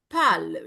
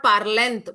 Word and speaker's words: parle: It is not parlent. Please no. It's only what? Parle. You are not going to speak the last consonant.